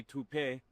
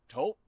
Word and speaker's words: Toop: Maybe Toupee. Could be Toupee. Yeah, I don't know. Or Taupe Insurance, Nah, maybe? I don't think so. Say it right. That's T-O-O-P. That's taupe. Oh, it's Taupe.